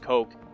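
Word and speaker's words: Koch: and coke and by the way it is pronounced coke you can even look it up on their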